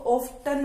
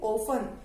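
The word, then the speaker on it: often: ओ एफ टी ई एन, कई बच्चे इसको ऑफ्टन बोलते हैं, इट्स नॉट ऑफ्टन, इसको बोलेंगे ओ एफ टी ई एन, ओफन। इसमें टी जो है वो साइलेंस है, टी साइलेंट रहेगा, इसमें टी की साउंड नहीं आएगी, सिर्फ स्पेलिंग में लिखेंगे हम इसको।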